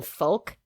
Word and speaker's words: folk: I was so distracted by the fact that she pronounced the L in folk that I couldn't listen to for about like 3 minutes after that.